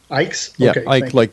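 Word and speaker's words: Icke: I don't know how you pronounce his last name. Ike like.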